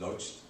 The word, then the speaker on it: Łódź: In fact, there was a totally unexpected benefit of this choice, when as a student in Łódź Academy, we would pronounce it Lodz, this film academy that produced a couple of well-known directors like Mr.